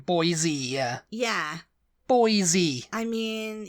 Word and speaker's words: Boise: happening but it's definitely Boise uh um yeah you can't really think of other words that end with e pronounce the E like e though Boise yeah yeah Boise I